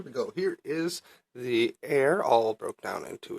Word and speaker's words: Ere: about the air no it's spelled ER e like air like Shakespearean language like